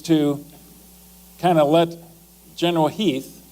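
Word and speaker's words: Heth: Lee's intent actually is to kind of let General Heath, it's spelled H Eas, but it's pronounced Heath, to do a little bit of recounting, thinking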